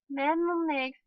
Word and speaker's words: mnemonic: Mnemonics, the initial M is silent.